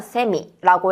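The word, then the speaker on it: せみ: 자, 여러분 우리가 메미를 뭐라고 하냐면 세미라고 해요. 세미 할 때 새라는 발음이 들어가게 됩니다.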